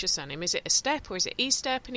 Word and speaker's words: Estep: It's Estep, not Estep? Yeah, I mean, Estep's how it's pronounced.